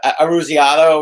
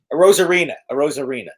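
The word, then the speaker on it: Arozarena: How do you pronounce Ruzioni? that? Aruziano, or whatever the hell his name is. A Rosarina.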